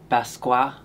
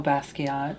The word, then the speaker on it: Basquiat: Basqua. Oh, Basquiat.